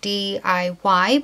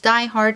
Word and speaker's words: DIY Hard: polishes in my previous video I called it DIY but it is pronounced Die Hard nails and they were kind enough to send